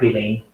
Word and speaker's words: Lange: creo que de hecho se dice Mark Lane, bueno, se escribe Lange, o Lange, y la idea es que estas restricciones no son una casualidad, no son azarosas, ¿no?